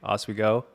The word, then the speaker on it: Oswego: We have a special guest today, Marshall Cho, coming all the way from Portland, Oregon, also head coach of Lake Oswego.